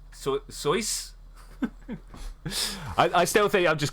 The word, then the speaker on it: Soyuz: Oh, the U is short, not Soyuz. Soyuz.